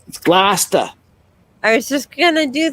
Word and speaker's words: Gloucester: And it's Gloucester.